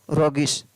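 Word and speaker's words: roguish: ROGUISS, रोगिश। इन 4 words के अंदर GUE का उच्चारण है वो अलग अलग तरीके से हो रहा है, तो इन वर्ड्स को आप थोड़ा देख लें।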